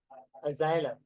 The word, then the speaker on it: Asylum: एज्यू, देखो ना, as line, एसिलम, एसिलम, एसिलम pronunciation देखो। अजाइलम। Asylum. एसाइलम।